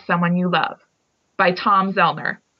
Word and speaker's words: Zoellner: You Love by Tom Zellner. And the last name is spelled Zoellner. So Tom is the co-author of An Ordinary Man, which is the autobiography of Paul Rusesabagina.